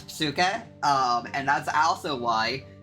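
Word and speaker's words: ψυχή: same word for butterfly suuk or psuk technically cuz it has aai which is technically PS but it's sometimes hard to pronounce but it's psuk um and that's also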